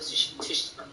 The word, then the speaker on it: Tsushima: But I feel like Ghost of Tsushima. Just ignore the T. Yeah. Tsushima.